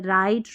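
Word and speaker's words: write: और silent W रहता है। डब्ल्यू आर से शुरू होने वाले शब्दों में डब्ल्यू साइलेंट रहता है। देखिए डब्ल्यू आर से शुरू है ना तो डब्ल्यू साइलेंट है। राइट रॉन्ग रैप तो यहां पर डब्ल्यू साइलेंट है।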